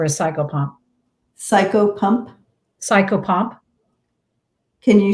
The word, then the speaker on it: psychopomp: crossing souls over a cycle pump psycho pump psychopomp can you spell that s-s-c-o-p-s let me write it out